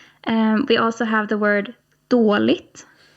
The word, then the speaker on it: dåligt: So let's hear these three sounds again, - "På". - "På". - "Dåligt". - "Förlåt". Okay. So it's a longer 'å' sound for all of these.